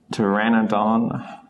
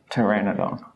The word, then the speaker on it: Pteranodon: like a blank and in some cases though it becomes just a t sound the P becomes silent as in the dinosaur Pteranodon or pterodactyl I always preferred Pteranodon though so we dropped the P Pteranodon so technically just